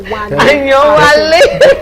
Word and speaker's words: Ayewale: Did I pronounce that name right? Ayewale.